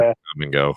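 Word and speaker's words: Kum & Go: Come and go. There you go. yeah. Come and go. Yeah. Isn't that the best? Because it's spelled K-U-M and go.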